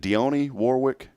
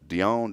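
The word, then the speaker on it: Dionne Warwick: how do you say her name is it Deon Warwick you going Dion Dion Dion Warwick remember her back in Warwick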